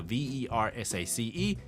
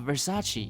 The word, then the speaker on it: Versace: why but everybody knows when you see the v e r s a c e you pronounce it ver Versace cool you become Italian